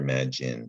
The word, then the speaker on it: imagine: tricky enough because it looks like it says imagine that silent e you don't hear the long i sound in my giant you hear mad gin so it's tricky uh